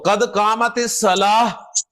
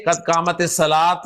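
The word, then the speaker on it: قد قامت الصلاة: की अदायगी कैसे है तो कदमत सलाह हा के साथ प्रोनाउंस करें कदमत सलाह ना के कदमत सलात कद का कामत सलात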